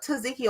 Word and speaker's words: tzatziki: The next thing on the list is tzatziki.